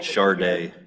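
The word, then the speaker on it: Chardé: She pronounces it Charday. Charday.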